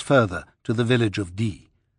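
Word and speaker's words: Die: It was 7 miles further to the village of D. He knew well enough not to pronounce it the English way, D-I-E, but the coincidence of the name occurred to him.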